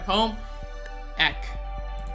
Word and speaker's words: home ec: Is that why you're in home EC? Home ec. EC? No, home ec. That's how it's pronounced.